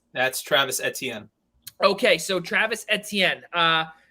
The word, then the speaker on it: Etienne: you to i need you to uh to pronounce that's travis etienne okay so travis etienne uh ramifications for both